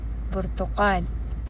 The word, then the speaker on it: برتقال: Portokal.